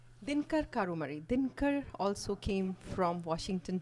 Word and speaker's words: Karumari: uh how do you say your last name Kumari dinkar karumari dinkar also came from Washington DC a day